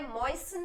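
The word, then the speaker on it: moisten: alright अब desiccated है मोइन इसका टी जो है वो साइलेंट होता है मोइन बोलते हैं इसका मतलब है कोई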